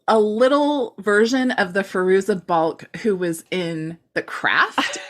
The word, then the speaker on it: Fairuza Balk: and for some reason wait you pronounce her name farooza bulk right is that yes okay so for some reason in my memory it was like a little version of the Fairuza Balk who was in The